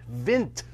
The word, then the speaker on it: Vint: badge was wrong and it said vince surf on it and he's like going my name is vint vint vint and i turned and